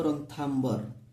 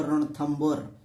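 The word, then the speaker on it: रणथंभौर: तो एबे देखि पारथुबो Sariska tiger reserve, रणथंबर tiger reserve, जोटा को तुम बही रे लिखा हितबो रणथाम्बर, रणथाम्बर तार एक्चुअली तार प्रोनाउंसिएशन हबो रणथंबर टाइगर रिजर्व।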